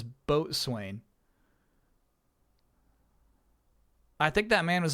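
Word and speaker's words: boatswain: The name of that trophy was the boson. B O S U N, which is how my chat pronounces boat swain.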